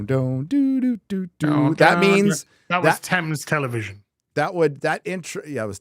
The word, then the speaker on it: Thames: The TV jingle is from the Thames.